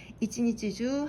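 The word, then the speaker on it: 一日中: 예를 들어서 콘슈추처럼 가운데 중자가 추로 읽히면 이번 주 중에 라는 뜻이고요. 그 다음에 시간 다음에 시간 다음에 주라고 읽히면 내내라는 의미가 되거든요. 이치니치주 하루 종일 그렇게 되겠죠.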